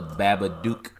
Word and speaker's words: The Babadook: actual scary movie and this is a the babba dude I believe if you want to say that again the Babbitt Duke yes good pronunciation that last time I don't want to